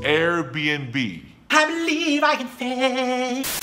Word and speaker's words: Airbnb: A lot of people get confused when they see that little N between the B's. The N actually means and. So it's Airbnb. Airbnb.